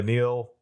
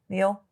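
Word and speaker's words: Nihil: as Papa Nill yeah Nill Neil I think they they pronounce it Nill okay yeah it's a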